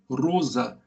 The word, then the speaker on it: Rosa: que se chama Hartmut Rosa. Se escreve Rosa em português, só que você fecha o O. É como Guimarães Rosa.